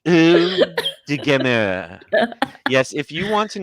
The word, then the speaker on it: Eau de Gamer: You have to pronounce it like you're French. Eau de Gamer.